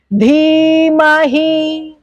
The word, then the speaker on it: धीमहि: द और ध are different, similar sound है, लेकिन ध इज महाप्राणा। ठीक है, ग नॉर्मल, घ जोर पड़ता है ना, तो महाप्राणा हैज टू be pronounced as महाप्राणा। तो धीमहि नहीं है, धीमहि, धी, धी हैज to come from the naval, धी, धीमहि, धी, धी हैज टू कम लाइक धी।